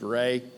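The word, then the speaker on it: Reaugh: R-E-A-U-G-H is pronounced Ray.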